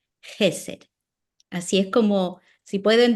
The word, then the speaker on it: Hesed: realidad es ch y la ch en hebreo es como el sonido de nuestra J. Por eso lo en español se lo escribí ahí para que pudieran tener una idea de cómo se ah pronunciaría y cómo se acentuaría. El acento iría en la primera e Jes.